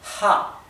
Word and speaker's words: ja: E la misma H del inglés es la H del alemán, así que esto se pronuncia ja. Como una J, pero recuerde que más suave, como la H del inglés. Ja.